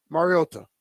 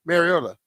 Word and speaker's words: Mariota: It's Mar and not mayor. Mayor. Yeah. So, like instead of saying like we called him Mariota, called him Mario, right?